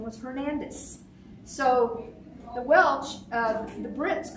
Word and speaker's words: Hernandez: So the Hernandez were the, or they pronounced the Z with that sound, Hernandez. They were the Christian ironsmiths.